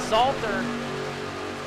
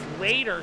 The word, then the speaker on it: Slater: by that 92 trucker Jordan Salter of Jordan Slater sorry I'm saying his name wrong all night all night long Slater Jordan Slater in that nine racks